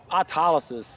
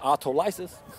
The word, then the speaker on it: autologous: so hyper does it how about autologous for years I pronounce that autolysis I mispronounced words all